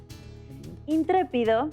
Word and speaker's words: intrépido: ahora me toca intrépido intrépido tiene su sílaba tónica en 3 esta clasificación pertenece a las palabras esdrújulas si recordamos todas las